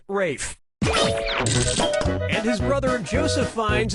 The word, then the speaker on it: Ralph: has the ralph or rafe has to ralph player two clocks a ticket player two player one yep ray fein's first name is spelled like ralph but pronounced rafe and his brother joseph